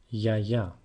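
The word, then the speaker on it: γιαγιά: their grandmother it's just they change the emphasis where they say Yaya instead of Yaya which actually the correct way to pronounce the word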